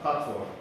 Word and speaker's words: patois: what is known as Patois, which is spelled P-A-T-O-I-S. So it's basically a French term, but pronounced differently.